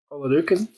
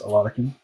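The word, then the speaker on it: Oladokun: And here's our Chris Oladukin. Or Oladikin, excuse me, I think it's pronounced Oladikin. Another one we see a lot of.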